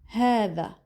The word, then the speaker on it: هذا: هذا. Not ha. هذا. So, هذا is an expression used to point at masculine nouns.